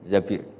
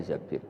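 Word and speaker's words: الزبير: Kemudian saya nikah sama Abdurrahman bin Zabir. Di hadis ini bukan bacanya bukan Zubair tapi Zabir. Abdurrahman bin Zabir.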